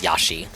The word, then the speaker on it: Yoshi: Yoshi? Due to their incredibly fast acceleration, This guy is Australian, so he does pronounce Yoshi as Yashi.